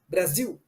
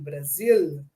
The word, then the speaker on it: Brasil: Brésil, parce que au Brésil, les ailes qui sont dans la position finale, on fait Brasil. Mais en Portugal, il faut prononcer le L, Brasil, comme en français, Brésil.